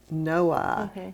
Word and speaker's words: Noailles: talk about mary and her middle name is pronounced no i that's how the family has pronounced it noah and it is spelled n-o-a-i-l-l-e-s so that's been a